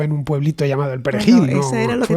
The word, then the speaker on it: perejil: Digo, igual es que empezó en un pueblito llamado el Perejil. No, eso era lo que tenían que decir. Diga perejil. Diga perejil. Y si lo decía bien, si sabía pronunciar la R, se salvaba.